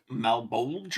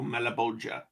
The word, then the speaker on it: Malebolge: everyone pronounces it, but most people would probably pronounce it Malebolge or something like that. Malebolge. Yeah, the original Italian pronunciation would have been closer to Malebolge, which you can see from line 3 in the Italian, which ends with the rhyme, come la cerchia che d'intorno il volge.